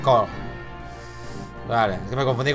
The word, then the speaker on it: coeur: Coeur. Se pronuncia cor.